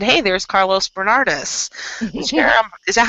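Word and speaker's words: Carlos Bernardes: Jonathan and I were walking the grounds, and I said, "Hey, there's Carlos Bernardis."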